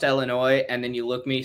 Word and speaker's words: Illinois: upset if I point out hey it's actually pronounced Illinois and then you look me straight in the